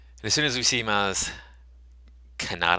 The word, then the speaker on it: Maz Kanata: soon as we see Maz Kanata I think is how you say her name I've been saying it katana I am I have